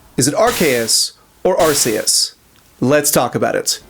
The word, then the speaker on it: Arceus: According to the animated series dub's then voice director Tom Wayland, the dub chose to pronounce Archus with a hard C instead of a soft C due to concerns over the latter pronunciation's potential implications in British Englishspeaking territories.